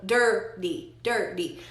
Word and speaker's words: dirty: So basically la T en dirty se está pronunciando como una R suave o una D in English, the dirty. So you have to, tiene que pronunciar primero la R del inglés y luego la R suave del español, dirty.